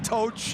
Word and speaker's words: Toch: played and minutes played, revealed that for almost a decade we've been saying his name wrong. Well, it's Toch.